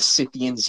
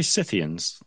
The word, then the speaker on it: Scythians: Did you say Scythians? Scythians were some of the first cannabis users. How did you spell that? Cythians, I think. Sith, like Scythians, but Scythians.